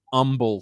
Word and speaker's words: Humble: is an agent at the H is silent and it is Humble Texas so I want to